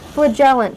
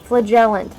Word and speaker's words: flagellant: Flagellant, flagellant. That's how they pronounce it in this game, not flagellant.